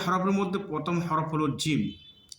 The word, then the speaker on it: جيم: 3টি হরফের মধ্যে প্রথম হরফ হলো জিম। অনেকে জিমটা উচ্চারণ করে জিম জিম জিম, মানে ইংলিশের যে জেড হরফ রয়েছে এই জেড লেটারের মতন অনেকে জিম উচ্চারণ করে। আসলে জিমটা এরকমভাবে উচ্চারণ হবে না।